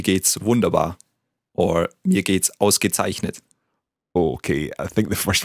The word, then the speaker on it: Ausgezeichnet: Let's take it syllable by syllable. The first word, the first syllable? Aus. Gezeichnet. Zeichnet. Ausgezeichnet. Yeah, very good.